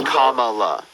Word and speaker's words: Kamala: mispronouncing her name on purpose her name is Kamala that's not that's that's that's literally a pronunciation that's not an accent I just I